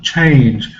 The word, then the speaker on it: change: there are some exceptions what about change it's one vowel letter there are two consonants after it but it's still long change we have to learn this as an exception just learn it and remember that it's long doesn't fit our role